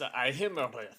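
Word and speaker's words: Iymrith: Well, how do you pronounce that again? Imarith? I can't believe you don't know this. It's Ihimarith.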